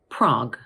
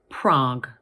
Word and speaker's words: Prague: Now, this word has only one syllable because the letters U and E at the end of the word are silent. So in British English, we pronounce it Prague.